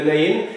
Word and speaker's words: Naïn: la veuve de Naïn parfois c'est écrit né parfois c'est naïenne je vais me prononcer à l'hébreu donc c'est la ville de Naïn et c'est depuis quelques